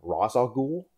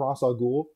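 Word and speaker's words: Ra's al Ghul: 11 rach al ghul now some people will call him raza ghoul uh i actually started off calling him rasa ghoul i think they call him rasa ghoul in the batman begins film the batman animated series calls him rachel ghoul and i actually had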